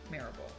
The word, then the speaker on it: Maryville: If you say like it looks like Mary, we say mare like a horse. Maryville.